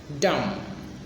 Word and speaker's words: dumb: drunk, drunk, drunk, dry, dry, dew, dew, dull, dull, dumb, dumb. We don't pronounce the B at the end. Dumb, dusty, dusty, dusty, each,